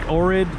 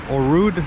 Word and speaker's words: Ohrid: Coming up on the channel will be videos of North Macedonia's second biggest city, Bitola, as well as Lake Ohrid, or Orud, I believe it's pronounced by Macedonians, which is their favorite vacation destination.